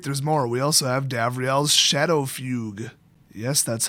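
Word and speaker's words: Davriel's Shadowfugue: We also have Davriel's Shadow Fugue. Yes, that's how you pronounce it.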